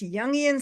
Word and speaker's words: Jungian: People who see beyond the lifelong student of and I can't pronounce this word jungian. Jun what is it Julie? It's young psychology.